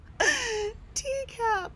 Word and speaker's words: Teacap: Teacap! Because it rhymes with recap, but it's tea.